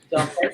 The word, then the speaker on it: Dumphord: Am I saying it right, Dumphord? Yeah, it sounds good. Dumphord, okay.